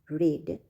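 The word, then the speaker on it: read: You will not have रेड before I teach. यहां पर मैंने रीड को रेड बोला है क्योंकि जब भी वर्ब टू और वर्ब थ्री होता है तो हम लोग रीड को रेड प्रोनाउंस करते हैं।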